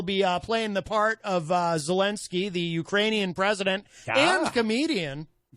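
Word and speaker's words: Zelenskyy: Oh, there's 2 Y's. I've been spelling his name wrong. 2 Y's. Like I said earlier, who makes up these languages? That's crazy to me. 2 Y's. So it's like Zelensky.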